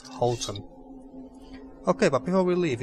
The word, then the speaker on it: Houton: Houton, Okay, so that's how it's pronounced, not Houton.